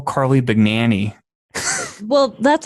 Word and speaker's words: Bagnani: It's not Bagnani or Bagnini, although you could say that, but the G is silent. The G is connected to the N, so it makes an Enya sound. It's Italian.